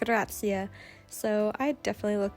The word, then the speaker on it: Grazie: Grazie. Prego. That was me trying to say thank you in Italian, and I learned pretty quickly that's absolutely not how you pronounce it. It's more like grazia.